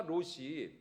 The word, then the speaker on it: 롯: 화려한 그래서 아브라함의 조카 롯이 어디로 갔어요 둘이 같이 살 수가 없었잖아요 예 그래서 아브라함이 먼저이 조카 에게 선택권을 줬죠 아니 세상에 롯도 그렇죠이 발음을 잘해야 됩니다 로입니다 롯 예 롯이 롯도 아니